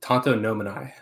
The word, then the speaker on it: tantonomini: is at tato nominee say that right i pronounced it tonto nominai nominai there we go okay i was like